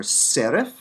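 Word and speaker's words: שרף: isaiah 6 serif serif note the pay comes after a vowel so it's spiritized it's not per but and it comes at the end of the word so it's written in its final form serif take the same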